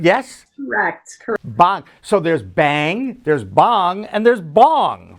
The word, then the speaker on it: Bhang: from bong corporation right did i say it right that time we say we call it bang in the u.s i know it's a u.s but you're it's it's derived from an indian word yes so there's bang